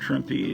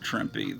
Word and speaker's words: Trimpe: I used to think it was pronounced Herb Trimp, but enough people have pronounced it Herb Trimpe that I'm starting to believe that that's the actual pronunciation.